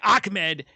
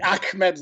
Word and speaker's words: Ahmed: They want to make sure they weren't pronouncing it Ahmed when it's Ahmed.